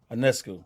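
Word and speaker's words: Ionescu: Anescu.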